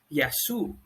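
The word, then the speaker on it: γεια σου: have hello now that hello is pronounced as yasu now the relaxed way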